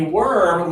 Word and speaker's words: worm: So this one here is letter O-R, and interestingly, this one is like curl, okay?